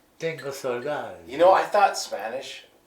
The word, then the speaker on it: saudade: Saudade is the feeling of nostalgia.